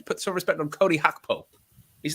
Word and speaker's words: Cody Gakpo: And PS says, Owen, it's time for your pronunciation successor to Seshko. It's Cody Gakpo.